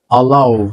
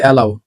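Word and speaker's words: allow: বোফাই বোফাই আকামি আকামি আলাও আমরা বলি এলাও আলাও কি হবে আলাও ইফট ইফট আমরা বলি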